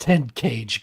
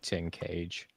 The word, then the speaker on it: Tenkage: It's pronounced 10 cage, guys, okay? Oh yeah, that's right. No, it's 10. For the longest time, I actually did say Tin Cage.